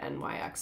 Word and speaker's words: NYX: I think that's how you say it, NYX.